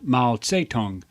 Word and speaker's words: Mao Zedong: Mao Zedong, also pronounced Mao Zedong, was the most impactful Chinese leader in history.